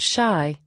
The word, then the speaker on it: Chi: Chicago West to be known as chi pronounced shy little Chicago joints big sister north and brother st.